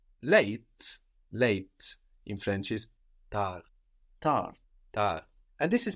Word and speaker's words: tard: Late in French is tar tar tar and this is spelled t a r d so the final consonant in French as we have been seeing is rarely pronounced t a r d